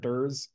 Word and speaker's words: DER: in this area and they pronounced the acronym de dur and they had a